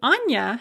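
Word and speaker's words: Аня: them so for example the name anna has a hard n because it has an ah written after the n but the diminutive anya has a soft n because we have a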